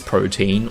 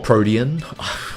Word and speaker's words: Protean: see if it is Protein or not. Or Protean. I can never pronounce it. Yeah, Protean, you...